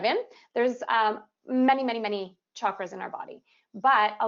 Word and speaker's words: chakra: in the yoga world I was taught by my mentors to pronounce the CH as a hard sound so it's pronounced chakra